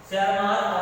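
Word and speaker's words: Tschermak: T silent है, शेरमार्क और coherence.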